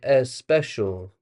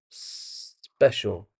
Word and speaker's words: special: has a similar issue, do this like a serpent, like a snake, and then you say the word so special. Don't say a special. That's not correct. Special.